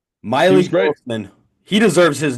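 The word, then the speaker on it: Mylik: performance from JoJo tuger My Le Wilson oh my goodness is it it's my le it's m y l i k Miley he deserves his name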